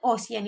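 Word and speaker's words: ocean: और न और सिया तो कहानी पर भी ये लिखा होगा तो आप इसे ओसियन ही पढ़ेंगे और इस तरीके की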